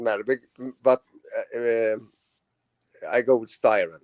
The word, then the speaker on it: Styren: And it's not pronounced the way you do in America. It's pronounced STYREN.